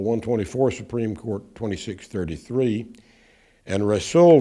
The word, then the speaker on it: Rasul: Supreme Court 2633 and wrestle V Busch and by the way you'll hear that pronounced wrassle wrestle and Rasul and probably a few other ways so I just say